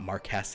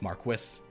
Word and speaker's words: Marquis: which by the way it's not Marquess it's Marquis according to the British they also say turquoise